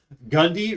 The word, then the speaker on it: Gundy: Gundy rhymes with Bundy.